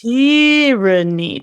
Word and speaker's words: tyranny: Yes, kind of a funny thing because a lot of three-syllable words in English, we emphasize the second syllable. You know, we say develop, granola. But with tyranny, for some weird reason, we emphasize the first syllable.